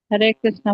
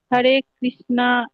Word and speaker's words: हरे कृष्ण: कहता है कि हरे कृष्णा उच्चारण नहीं करना चाहिए क्योंकि वो द्रौपदी का नाम आता है। नहीं नहीं माता जी, हम लोग, हरे कृष्ण ये कहना चाहिए।